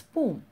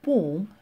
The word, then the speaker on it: poem: You may be wondering why the teacher is pronouncing the word poem as poem. Well, the correct pronunciation is poem and not poem.